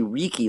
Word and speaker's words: Riki: to Rik I but what a stupid way to phonetically spell it like like that's that's that's actually Ricky like Tiki right I don't like